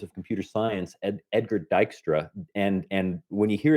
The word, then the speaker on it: Dijkstra: to be scanned yeah v-i-j-k-s-t-r-a so that that's pronounced dykstra um and this is an algorithm for finding